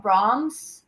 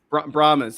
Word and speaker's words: Brahmas: I don't even know how to pronounce that name. The Brahms. Brahmas.